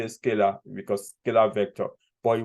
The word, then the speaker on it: Scala: I think the pronunciation of the tool is Scala actually, but this person has got almost like